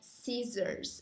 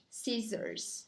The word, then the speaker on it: scissors: É scissors. A gente pronuncia scissors. Então, esse primeiro SC fica com som de S. E o SS fica com som de Z. Então, scissors.